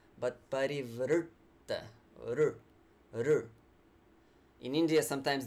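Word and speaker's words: parivṛtta: buddy fruit berry fruit you can hear the depth that comes from that curled tongue yeah so again not pareve RIPTA but parivrtta ruh ruh in India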